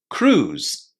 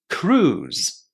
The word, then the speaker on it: cruise: Cruise. Cruise. Which one is the silent letter? It's the I inside. We don't say it.